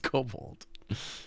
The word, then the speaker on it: kobold: It's pronounced kobold.